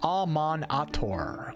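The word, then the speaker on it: Amaunator: Pronounced Amon-Ator.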